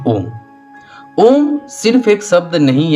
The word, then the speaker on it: ओम: ओम को तीन हिस्सों में आप बांट दो। पहला अ जो कि पेट से शुरू होता है। दूसरा उ जो कि छाती तक लाओ। उसके बाद होता है म सिर में वाइब्रेट करो।